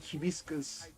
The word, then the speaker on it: hibiscus: do you pronounce it hibiscus hibiscus I think okay yeah it's because the the H is pronounced different in Spanish oh yeah yeah yeah